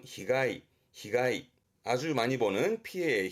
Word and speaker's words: 被害: 발음은 히가이.